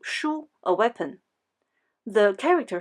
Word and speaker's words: 殳: Another part, represents a hand holding something like a small stick or mallet ("殳," pronounced shū).